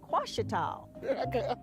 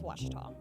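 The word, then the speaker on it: Ouachita: Some folks think the O is a Q and they say Quashita. Hey, Wachita. Wachita. Back in Texas, everybody pronounces it Wichita, but really, it's Washita.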